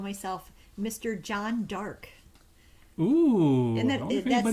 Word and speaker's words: Jeanne d'Arc: You keep saying it like John Dark, like so very sinister and dark. Okay, I have to point out that is the closer to French pronunciation, and where I first